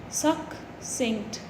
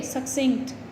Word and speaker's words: succinct: Make guesses how it can be pronounced. See this: SUHKSINGKT. Symbols: succinct. Okay, succinct, like success. Similarly, succinct.